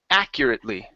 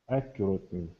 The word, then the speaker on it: accurately: first up is accurately so our stress is here at the very beginning accurately accurately good it is more